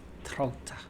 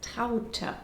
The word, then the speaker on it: Traute: You'd pronounce that I'd say Trout. Trout, Americans, wouldn't you? Elk, wolf, trout. Hey, soon we can open our own mispronounced German names zoo. Similar to Elke, the correct way of saying this is Traute.